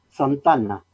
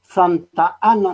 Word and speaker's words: Santana: porque como lo dice la pronunciación correcta de sandana no y hay claro una sola palabra santana santana santa ana no esto está mal y entonces preso coméntenos